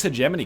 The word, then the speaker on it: hegemony: have six hegemony credits people keep telling me Oh you saying hegemony wrong it's hegemony yo look that up in a pronunciation dictionary hegemony might be okay but the consensus choice is hegemony I promise you this or at least they're both acceptable let's buy the box